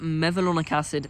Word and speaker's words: mevalonic acid: Then you take the enzyme HMG CoA reductase, and then you get mevalonic acid. That's how you pronounce it.